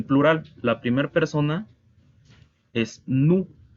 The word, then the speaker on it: nous: En plural, la primera persona es nous. Las letras O, U en francés se pronuncian U, así como en español U. Y la S al final es muda.